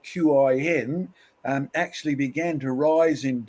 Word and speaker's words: Qin: But the pronunciation of that in Chinese is Qin.